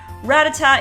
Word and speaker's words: Rattata: Kabutops number two Rattata this is another long-standing Pokemon that has had these two pronunciations I always said Rattata and I heard people say Rattata all the time but I always thought Rattata is right and look they say